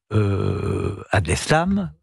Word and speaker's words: Abdeslam: Personne ne peut comprendre que monsieur Abdeslam, c'est comme ça qu'on prononce.